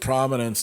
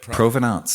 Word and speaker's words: provenance: you're saying bikes with prominence that like how do you say it? Provenance. Provenance. There you go.